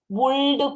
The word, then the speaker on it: would: from our ashrae saying would pull the shoulder and all it's not cooled i don't want anybody in my class saying l is silent w-o-u-l-d is good luckily should okay it's